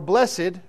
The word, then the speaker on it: blessed: a blessedness on that to be blessed or blessed as it is sometimes pronounced means to be in